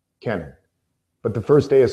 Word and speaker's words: Kenan: J creeper yeah dude I'm Kenan not Keenan not Kevin not Kenny Kenan but the first day